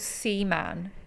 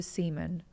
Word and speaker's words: Seaman: It's not like... What? Not like that, but you know, like David Seaman, his surname. Okay, it's spelled the same as that. Because when you said Seaman, that's why I pronounced it like that at first. Yeah, okay. But yeah, I would say Seaman.